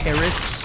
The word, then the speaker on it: PVRIS: big into right now it's Paris but it's spelled pvris so pretty much just instead of an a it's a v um and then there's